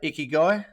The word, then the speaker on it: Ikigai: coach mate is that how I say it iy guy that's how you say it well done Trev